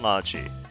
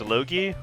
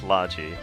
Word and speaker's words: Logy: and logi and yes even though if you look at the way it's spelled you would think oh isn't that spelled Asha and Loi but uh no they emphasize the hard sound so it's Esa and logi um they really should